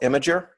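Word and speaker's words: Imgur: So what I want you guys to do is you guys should go to this website right here called Imager, and it's spelled I-M-G-U-R, okay?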